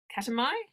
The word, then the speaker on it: Katmai: is Canada Alaska Alaska Alaska very specifically um ketamine did I say it right that's right that's